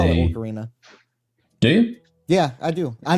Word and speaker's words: Ocarina: Now, is it Orcarina or is it Ocarina? Yeah, it's Ocarina, right? It's Ocarina. Yeah, I was just playing.